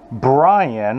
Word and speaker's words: Birane: Good morning and good Friday to everyone out there, and especially to Brian. I'm told it's pronounced that way. It's not spelled that way, but it's told it's pronounced that way in Dakar, Senegal.